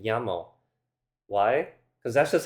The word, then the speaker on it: llamo: And for that matter, two L's make a y sound, like in llamo.